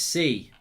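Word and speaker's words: sí: It's pronounced C. It means yes in Spanish, says Yankin.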